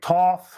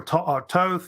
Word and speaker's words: Thoth: may have heard of Thoth or Thoth it's pronounced either either way I guess uh he's a famous